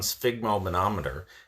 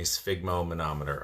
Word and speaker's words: sphygmomanometer: If you have been diagnosed with high blood pressure, first of all, you should have your own sphygmomanometer.